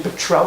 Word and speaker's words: petrel: It's a Russian word for a bird called a stormy petrel, if I pronounce that correctly. Petrel, not petrol, petrel.